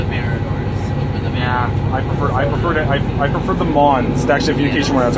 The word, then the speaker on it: MAN: Originally I called it, I think, the M-A-N, and then I just called it the Mans, and then I learned it was actually pronounced Mons, so.